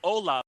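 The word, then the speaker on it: Olá: All right, it's Ola, but it's spelled O-L and then accented A.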